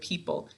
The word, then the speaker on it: people: We don't hear an O sound in the word people. So this is actually silent when we are saying our word.